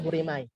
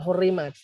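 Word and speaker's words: حُرِّمَتْ: Kalau orang nggak ngerti zaman sekarang dibacanya hurimai. Rupanya ini adalah hurimat.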